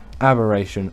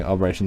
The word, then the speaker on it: aberration: on aberration and actually I should say aberration. I know a lot of you got annoyed. I said it wrong. I corrected myself. Aberration. I don't know why I've been calling aberation the whole time.